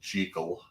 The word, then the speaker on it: Jekyll: Some say during this time period it's actually pronounced Jekyll, but I can't get anybody else to say that, so I'll stay away from it.